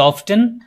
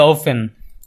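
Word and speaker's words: often: অফেন মানে হচ্ছে কতবার এটার দুইটা উচ্চারণ রয়েছে অফেনের আমেরিকানরা বলে অফটেন আর ব্রিটিশরা বলে ওফেন আমরা অফেন বলি বা অফটেন বলি যেটা দুটাই correct so হাউ অফেন ডু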